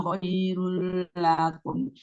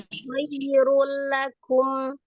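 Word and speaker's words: خير لكم: Apa bedanya kalau yang Umi tadi bahasanya kan khairul lakum, lakum gitu. Itu kan panjang lahnya. Langsung aja khairul lakum.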